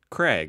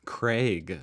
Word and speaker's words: Craig: it craig they really craig besides that a craig whereas in america we just kind of pronounce that name as like like as if it had an e like c r e g craig anyways those are